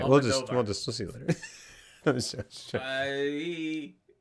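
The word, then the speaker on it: Almodóvar: Did you see what Pedro Almodovar said about Marvel?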